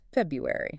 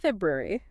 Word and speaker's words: February: The standard British pronunciation tends to smooth out the transition between the B and the Y by dropping the first R sound, making it sound closer to so not February.